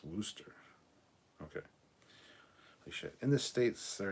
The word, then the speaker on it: Worcester: how to spell it phonetically worse desire is pronounced Wooster okay in this states there are two ways